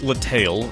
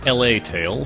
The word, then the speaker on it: La Tale: not the only one yes the game is pronounced La tale not La tale so don't think La law think La BL